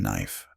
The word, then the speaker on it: knife: She laughed when he tried to explain the silent K in knife.